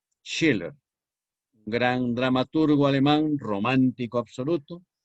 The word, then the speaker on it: Schiller: la alegría de hitler que se escribe con s ch siller s ch siller schiller gran dramaturgo alemán romántico